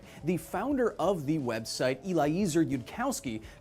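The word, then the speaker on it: Eliezer Yudkowsky: Upon dissemination of this thought experiment to the rest of the website, the founder of the website, Eliza Yudkowski, called the That's how you say it, post stupid.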